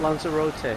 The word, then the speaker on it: Lanzarote: Lanzarote.